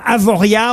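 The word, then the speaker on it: Avoriaz: exemple je dis almana oui alors c'est la prononciation correcte Laurent alors comme avoria on doit dire plutôt qu'avoriaas c'est bien ça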